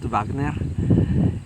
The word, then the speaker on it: Wagner: he's a German uh a German mutant uh who can teleport is um real name is Kurt Wagner or as the Germans would pronounce it Wagner he's a devout Catholic